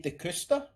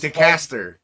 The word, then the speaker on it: DeCaster: the reason it came up is because Nikki DeCusta... Okay. Is that how you pronounce it? Oh, it was DeCaster.